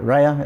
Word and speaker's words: Raya: one spot and I think by bringing David rayer in uh Raya is that are you say his name yeah